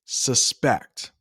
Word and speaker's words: suspect: can be tough suspect notice how I pronounce it suspect it means to believe